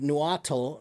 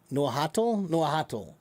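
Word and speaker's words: Nahuatl: The word tomato originally is from um uh a language called Noatal. Uh no nohatal. I think that's how it's pronounced.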